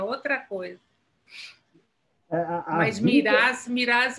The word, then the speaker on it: Mirás: Miraz é mais forte, né? Miraz é espanhol. Legal, né? Tem muita gente que me chama de Miraz.